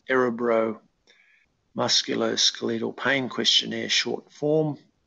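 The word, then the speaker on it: Örebro: assessment tool um it's spelt a rebro it's pronounced arabro musculoskeletal pain questionnaire short form and you can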